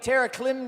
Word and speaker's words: Terraclim: Let me get Tara Klim down here.